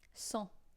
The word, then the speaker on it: cent: It is written like this, but pronounced like a cent, but without the T, you know. 100.